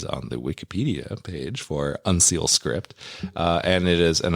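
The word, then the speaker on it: uncial: I went to several robots to tell me how to pronounce it, and they all pronounce it as unseal. Really? Yeah. Okay, not like unicial or something. No. So it's unseal.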